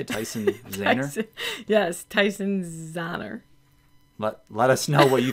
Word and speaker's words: Tyson Zahner: Yes, Tyson Zahner.